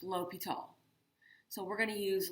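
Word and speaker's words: L'Hôpital: made up um and it looks like l hospital but it's pronounced l'hopital so we're going to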